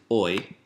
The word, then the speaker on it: hoy: Today is hoy. Don't pronounce the H.